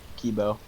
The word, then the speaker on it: Kibo: another game it is am i pronouncing that cuibo kibo is that how we're saying that we call him kibo yeah the the green